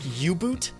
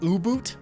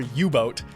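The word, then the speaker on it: U-Boot: you want to do cuz I I actually think yub boot is not correct in either language it would either be uboot or ubot and we tend to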